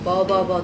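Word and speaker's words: 333: ル、サンサンサンって書いてね、なんかバーバーバーって読むんですよ。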